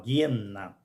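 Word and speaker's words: Geena: várias vezes a palavra Gena é justamente o lugar o l de fogo ou Gena se a gente for analisar a partir da pronúncia original guena que é derivado da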